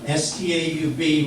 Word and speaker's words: Staub: Anglo-Saxon term meaning stump, S-T-A-U-B, which I think it follows German would be pronounced Staub.